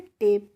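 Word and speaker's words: tape: का क्या होगा होगा और ई का हमें उच्चारण करना नहीं है तो इसको हम क्या पढ़ते हैं टेप पढ़ते हैं ऐसे ही एल ए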